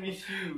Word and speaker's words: Mixue: Ternyata Mixu itu bacanya Miss You. Oh gitu. Lu tau dari mana tadi? Dari lagunya. Oh, Miss You. Miss You ternyata. Miss You ternyata. Gua bacanya Mixu.